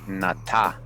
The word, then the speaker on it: Nata: of the Aztec story, Nata, pronounced with the broad sound of ah, is not far from the name of Noah or Noé.